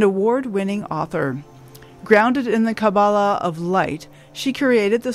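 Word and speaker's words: Kabbalah: off by telling me how do I pronounce cabala as a cabala or cabala cabala no cabala it is cabala okay yeah thank you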